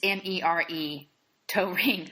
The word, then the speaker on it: Toering: It's Mere Toering.